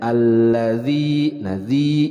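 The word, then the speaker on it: الذي: alif lam syamsiah alazi huruf z dibedakan dengan pelafalan huruf D Jadi dibacanya alladzi ini adalah maut Thobi'i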